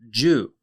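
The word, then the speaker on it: 銃: Today's Lance's lessons is going to be the Japanese word for gun. And gun is Jew. Jew is spelled Ju.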